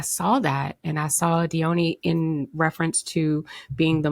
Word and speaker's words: Dione: Dion uh okay so it's actually pronounced Deon but I go with Dion Because Deon is one